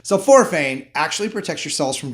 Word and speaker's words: sulforaphane: Sulforaphane, that's what actually makes the vegetables kind of smell. And if it sounds like the word sulfur, you're right. Sulforaphane actually protects your cells